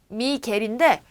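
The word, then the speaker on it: Miguel: 근데 우리가 산 미구엘이라는 맥주 메이커 아시죠? 그 산 미구엘이 이제 스페인어란 말이에요. 미겔인데 요거를 우리가 이제는 그전에는 이제 몰라가지고 발음을 미구엘이라고 이렇게 써놨는데 이렇게 적으면 뭐예요? 개란 말이에요. 개. 미겔. 산 미겔.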